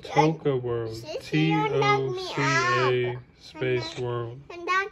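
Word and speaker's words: Toca World: Daddy, tell them to spell it. It's called Toka World.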